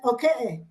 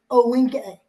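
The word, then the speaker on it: Ohkay Owingeh: So you pronounced it okay, not okay, but okay. And awinka was Owegeh, Owinge. So it wasn't Owinge like it is now.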